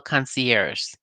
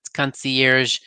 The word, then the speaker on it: concierge: And one of the ladies is trying to say concierge on the show, and she keeps saying concierge. I've heard people say that. I guess they think the G is silent.